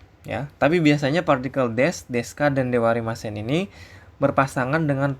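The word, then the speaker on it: です: bla Des gitu ya Ini dibaca Des Ya bukan desu ya dirilisnya memang desu tapi dibaca Des ya Nah partikel wa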